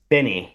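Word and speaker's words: Binie: Benny. I think that that's the idea. And pronounced By.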